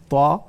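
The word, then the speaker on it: ت: আমরা কোরআনে কারিমের মধ্যে পড়ি, দেখেন নাকি আলিফ লাম রা, সেখানে রে বলি না, ঠিক আছে না, ত হা আমরা এটা বলি, সেখানে তই বা হে এটা বলা হয় না।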